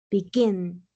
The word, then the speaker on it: begin: Por ejemplo, begin, begin, dos sílabas en la última sílaba y termina en consonante, vocal, consonante.